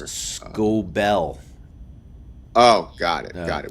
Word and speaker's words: Skubal: Is that how you pronounce it? I think it's Skubal.